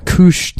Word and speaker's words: Couche: a place that's called couche hard but Koosh is spelled like douche with a C oh hell yeah moosh